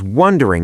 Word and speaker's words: wondering: Yeah, like I was wondering if you're ever going to do your job. And finally, casual. You're asking your best friend. I was wondering if Notice I dropped the G. Wondering.